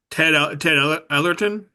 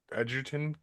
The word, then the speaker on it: Edgerton: I don't know how to pronounce his name. Is it Ellerton? You got Taylor it. From, Edgerton.